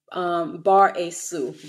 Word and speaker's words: Bar-Jesus: All right, his real name, how to pronounce it, is Bar-Asu, Bar-Asu. All right, so almost like Spanish, Jesus, Bar-Asu.